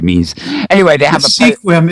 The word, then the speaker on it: Sequim: e Sequim gizette not sequin Sequim very um very strange time that actually I don't know what it means anyway they have a squim is actually pronounced squim and it is the